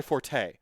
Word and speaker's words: forte: fort uh people say it's not my forte it's actually pronounced fort but if you say